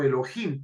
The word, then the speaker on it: Elohim: bien vemos pues que Elohim o Elohim que es como se pronuncia tiene varios usos el